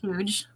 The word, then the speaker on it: huge: Huge. Huge. With a very soft, Huge. Huge. very soft H.